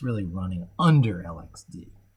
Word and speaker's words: LXD: It's really running under LXD. Or LXD, they want that pronunciation. They say that on the site. Here's the correct pronunciation, LXD, LXC.